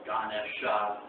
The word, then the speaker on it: Ganesha: Ganesh, the A is usually left silent, so you see it spelled Ganesha, but it's pronounced Ganesh.